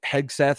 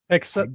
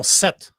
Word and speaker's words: Hegseth: Hegseth? Yeah, okay. Yeah. We'll call it Hegseth. Hegseth. Yeah, Hegseth. Yeah, I'm no, Set. No, like Hegseth.